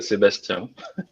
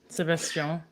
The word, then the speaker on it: Sébastien: Enfin, si tu le dis en français, Sébastien. Sébastien.